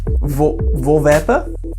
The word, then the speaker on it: Voorwerp: Voorwerpen?